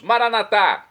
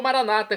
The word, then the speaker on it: Maranata: aramaico dialeto de Jesus maranat como dizemos nossos católicos ou Maranata como dizem nossos irmãos separados os evangélicos ou protestantes não importa pronúncia o significado é o mesmo vinde Senhor Jesus um